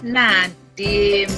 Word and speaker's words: Nadiem: Jadi tulisannya memang Nadiem, tetapi dibacanya Nadim ya.